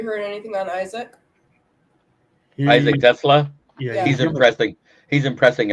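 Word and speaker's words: TeSlaa: And y'all just say his last name wrong, so it's fine. Whatever. It's Tesla.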